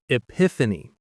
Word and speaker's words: epiphany: The pronunciation is epiphany. The stress is on the second syllable.